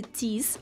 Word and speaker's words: teeth: на ее артикуляционный аппарат, когда она говорит teeth, можно четко увидеть вот это правило произношения буквосочетания th, когда мы обязаны высунуть язычок наружу, не просто teeth, а teeth, teeth. Это английский язык, и так будет правильно.